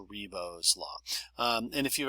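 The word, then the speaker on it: Ribot: the further back it will go and that's pronounced reo's law um and if you've ever seen momento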